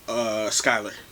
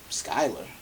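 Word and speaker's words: Schuyler: Skylar. Skylar. Yes, it's spelled like Schuler, but it's pronounced Skylar.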